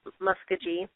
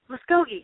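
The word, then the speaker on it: Muskogee: No matter how long I'm here, I can't stop calling it muskagee. I know that's stupid. I do. I call it musky every time. And people look at me like I'm an idiot. I'm like, what? Oh, muscogi. Yeah.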